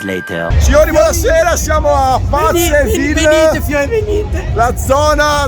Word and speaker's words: Paceville: Sono più o meno le 3, stiamo tornando a casa da Pazzeville, perché non si dice Paceville ma Pazzeville, sì lo so, è un po' strano.